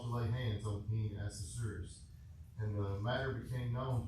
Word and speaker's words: Ahasuerus: You know, Ahasuerus. Neil pronounced it the other day, Ahasuerus, and I've been thinking, well, it sounds like rhinoceros. So Ahasuerus, rhinoceros. I think I can remember that if I can associate those.